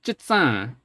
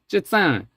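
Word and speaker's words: 結帳: So we have 結帳. So you'll notice that that mid 3 target, that's completely gone. It's 結帳. It's just that tone 3 target is completely gone.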